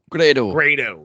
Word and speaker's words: Grado: Grado. That's how you say it.